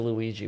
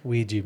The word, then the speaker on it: Ouija: It's like they say, like, don't ever play with the Luigi board, right?